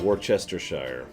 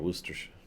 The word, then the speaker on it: Worcestershire: That's right, Worcestershire. God. Worcestershire. I can't even do it. There are multiple British names, usually proper names, that have plenty of letters in it that are not pronounced.